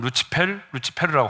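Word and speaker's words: Lucifer: 자, 통일교에서 말하는 원죄는요, 하와가 실제로 어떤 과일을 따먹은 것이 아니라 사탄인 루시퍼, 라틴어 발음으로는 루치페르라고 하는데, 이 루치펠과 인간인 하와가 성적인 관계를 맺었다는 거예요.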